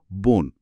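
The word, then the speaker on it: 본: Phone. উচ্চারণটা হল বোন।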